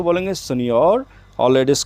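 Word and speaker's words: signor: वाला जो आ number second पे आपका इसका प्रोनाउंसिएशन ध्यान से देखना है। सियोर सियोर जेंट्स को बोलेंगे सिनोर और लेडीज को सियोरा सियोर एक्चुअली इटालियन वर्ड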